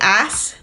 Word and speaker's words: ass: So, if we say ass, I'm sorry for being an ass. Ass. That doesn't sound right to us. But I'm sorry for being an arse. Arse. Arse. You don't pronounce the R. Arse. Well, that's just ass with a British accent.